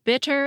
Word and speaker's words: bitter: [BIT is the stressed syllable, and after it is the unstressed “er,” so the /t/ in “bit” is between a stressed syllable and an unstressed one.] But you can also